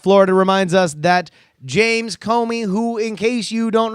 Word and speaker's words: Comey: and check it out at Comey at c om e UI rhymes with homie on twitter Neal writes